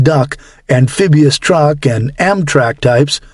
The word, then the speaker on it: DUKW: This force more than 3,570 vessels larger than individual landing boats such as the LCVP, landing craft vehicle personnel, and the legendary DUKW, pronounced duck, amphibious truck, and Amtrak